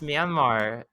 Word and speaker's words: Myanmar: marriage is fun to say i'm sorry i'll pronounce it it's myanmar okay and it's all right i'll i have